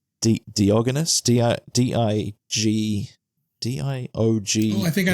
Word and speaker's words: Diogenes: I'll just quickly make sure I'm pronouncing it correctly. Diogenes? Diogenes, okay.